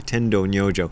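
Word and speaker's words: Tendō Nyojō: Sorry, Tendo Nyojo is how you pronounce his name in Japanese.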